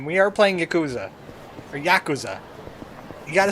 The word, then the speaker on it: Yakuza: Or Yakuza.